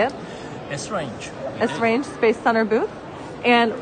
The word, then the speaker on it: Esrange: Esrange.